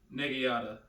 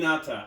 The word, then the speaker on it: naginata: Nagiata or Nagi. I'll okay. The pronunciation might be a little off, but you know what I'm saying. You know what I'm saying. Naginata.